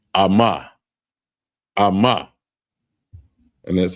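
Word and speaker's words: אמא: And the next one is mother and it's pronounced amma.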